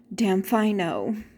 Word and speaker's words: damfino: slang term, but anyway, it's also a contraction for a phrase, and the phrase is "damn if I know." Damn if I know, and if you say it quickly, it turns into the word damfino. Damn if I know. If you say it really fast, it's damfino. And so that's where the word comes from.